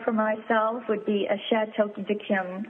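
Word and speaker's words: Château d'Yquem: myself would be a shat to diim and that's I'll spell it for you it's c h a t e Au U and D apostrophe excuse me yq u e m a bottle of that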